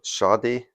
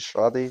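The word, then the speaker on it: Sade: police atlandis deore some shade so you see it pronounce it shy shy and another one that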